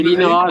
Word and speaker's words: INRAE: Ouais, c'est Linera, ça se prononce. Ça se prononce plutôt l'INERA.